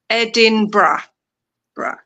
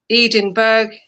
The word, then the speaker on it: Edinburgh: It's a very long complex but it's edin bra edin bra bra edin bra.